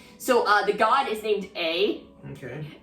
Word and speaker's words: Ei: She's a shogun, but she's also a god. Well, technically, no. The shogun isn't the god. The shogun is the puppet. So the god is named A. Okay. Ei, I think it's pronounced A.